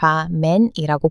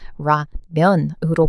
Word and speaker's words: 라면: 라면이 아니라 라맨이라고 불렀는데 이번이 영화 덕분에 많은 미국 사람들이 한국의 라면은 라맨이 아니라 라면으로 불러야 한다는 것을 빼웠어요.